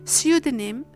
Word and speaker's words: pseudonym: The same thing happens with the fricative S in words such as pseudonym, psychic, psychiatrist, psychopath, and psychology.